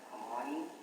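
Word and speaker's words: Khymani: Yes, my name is spelled K-H-Y-M-A-N-I, that's Kamani, and then, J-A-M-E-S.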